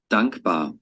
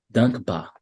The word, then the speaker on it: dankbar: Dankbar, dankbar, Dankbar, dankbar, dankbar. dankbar, Tá vendo que você não puxa o R no final? Não é dankbar. Você fala só ba.